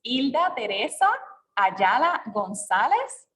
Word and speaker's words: Hilda Teresa Ayala-Gonzalez: Yeah, I know it's in Spanish. It's Hilda Teresa Ayala-Gonzalez, Archivera General de Puerto Rico.